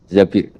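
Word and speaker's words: الزبير: Di hadis ini bukan bacanya bukan Zubair, tapi Zabir. Abdurrahman bin Zabir.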